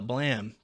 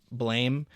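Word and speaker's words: Blame!: pretentious, you call it blam, because apparently that's what it actually is in Japanese, and it's like a weird translation choice to make it blame. It really doesn't matter, but I guess technically it's pronounced blam.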